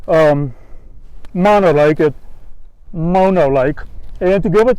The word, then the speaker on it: Mono Lake: of mono lake and i thought it was pronounced mono like and i used and i called it monolith for a long time but then found out um you pronounce it mono and that makes sense because i thought mono